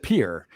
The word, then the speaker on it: Pierre: It's spelled Pierree. It said Pierre. So basically, if you want to pronounce the capital of South Dakota, take off the last RE because it's not needed. You want to just look at P-I-E-R. It's Pierre.